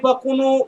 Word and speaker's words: bouquet: বেশ, এবার মনে রাখবো বোকে অফ ফ্লাওয়ার, এই বানানটা কিন্তু মনে রাখবে, BOUQUET, BOUQUET, বোকে of flower.